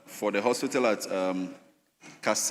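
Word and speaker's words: Kasei: the health coordinator for the hospital at um Cass. The name is Cass. That's St. Luke Hospital. So over here is spelled K E S E I. It should be K A S E I.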